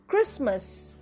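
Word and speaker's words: Christmas: hour honest এর ghost অংকর school chaos ভহকেল ক্রিসমাস মনে রেখো লিখতে এইচ আছে কিন্তু উচ্চারণ করতে নেই ভিডিওর ডেসক্রিপশন বক্সে এই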